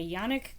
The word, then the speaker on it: Yannick: The Goddess of Small Victories by Yannick Granek. It's quite the name. The name is spelled Yannick, Y-A-N-N-I-C-K, Granek, G-R-A-N-N-E-C.